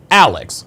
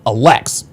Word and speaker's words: Alex: Okay, the accent is on the first part, Alex, not Alex.